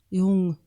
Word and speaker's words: Jung: So Carl Jung, that's how you say it in German, Carl Jung, saw myths as a